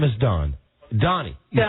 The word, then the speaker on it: Doni: d as David O N I yes yes Donnie okay Donnie all right Donnie okay it's my stage you can say doni it's pronounced that way in certain parts of the